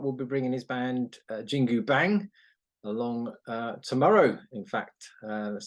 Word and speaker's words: Jingu Bang: Scott will be bringing his band JINGU BANG along tomorrow. In fact, so it's Wednesday today. Well done for pronouncing that correctly.